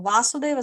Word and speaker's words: Vasudeva: a line on top of a then we pronounce it as vasudev so vasudeva Krishna but here vasudeva krishna's father is speaking